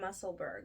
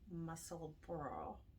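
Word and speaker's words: Musselburgh: and say it well i have been saying muscleburg but then i've been hearing some irish knitters say that that that's how you say it is muscle bro bro bro it's embarrassing but that's how you're supposed to say it so um it's embarrassing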